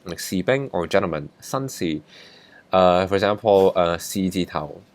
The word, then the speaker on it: 士: If the top line is longer than the bottom line, this is pronounced si.